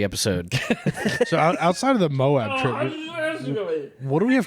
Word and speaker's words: Moab: Moab? Mob. Yeah, so that Friday The A is all right. silent.